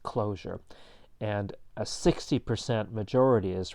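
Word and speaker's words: cloture: in the summary below it's spelled with a t as opposed to an s but pronounced closure and a 60 majority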